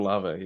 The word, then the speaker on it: Olave: I don't know, Olave or how do you say his last Chris name? Olave, yes.